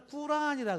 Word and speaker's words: 꾸란: 그다음에 이제 이 사람들이 믿고 있는 경전을 꾸란이라 그래요. 우리가 보통 코란이라고 보통 이렇게 알려져 있는데, 정확한 발음은 이제 꾸란이 더 원문에 가까운 거죠.